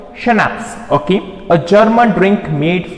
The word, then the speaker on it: schnapps: Snaps means it is pronounced like schnapps, okay, a German drink made from grain, okay,